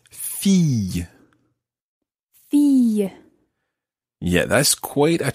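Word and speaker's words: fille: tricky word to say listen carefully Fe and you can decide to to do a sort of y at the end or just leave it as Fe Fe or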